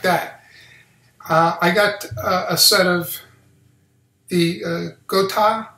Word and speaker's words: Gotoh: dive i mean just like that uh i got a set of the uh gota i think his house pronounced g g o t o h 350